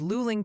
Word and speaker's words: Luling: Oh, and the pronunciation patrol wants you to know it's Luling, Texas, apparently like you're looking for more coffee. All right, got it. Logged it. Won't forget it again. Luling.